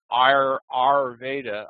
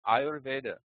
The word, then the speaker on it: Ayurveda: I don't say Arveda. I say Ayurveda, you know, I I am pronouncing it carefully and I am serious about it.